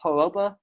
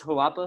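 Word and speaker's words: Harappa: the name after the haropa uh i think it's like it's hawapa i believe that's how you say it not great at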